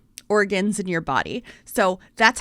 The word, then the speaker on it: Oregon: who was from there and she said it's pronounced organ like organs in your body so that's how I pronounce